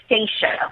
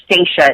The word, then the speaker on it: Stacia: thanks for having me it's actually stasa with an A so I know it's kind of weird people you know mess up my name all the time but it's it's stasa it's spelled St a c i a but yeah kind of short like Anastasia but U I'm not even